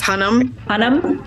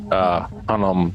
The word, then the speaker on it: Hunnam: Charlie how do you pronounce his last name? I think it's Hunnam.